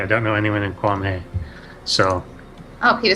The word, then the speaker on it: Kwame: name wrong. It's Kwame.